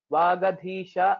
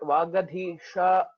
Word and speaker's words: Vagadhisha: This is not Murdhanya Shakara. Vagadhisha is sufficient, not Vagadhisha. So sometimes we end up pronouncing it in that way. So it is just Shankara Sha. So Vagadhisha will do it.